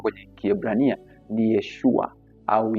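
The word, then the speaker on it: ישוע: Maana yake Yesu jina kamili kwa namna linavyotamkwa kwenye Kiebrania ni Yeshua au Yehoshua.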